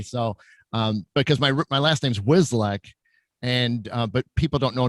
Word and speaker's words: Wcislek: So because my last name's Wcislek, and but people don't know that the C is silent, so you don't say it. So it's Wcislek, and it's a Polish last name, but it just screws people up bad.